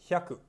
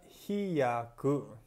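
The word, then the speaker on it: ひゃく: hundreds are Chaka thousands 100 the Japanese I Haku notice nothing down pronunciation Haku Hindi he kou no italic I'm not in new bucket Canyon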